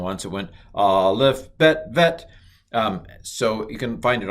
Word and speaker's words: vet: But he does the Bet with the dot in it as Bet, and the Bet without the dot in it called Vet.